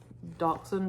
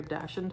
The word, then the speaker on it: dachshund: retiring so that is the dachshund or dashant however you like to pronounce it the dachshund warmer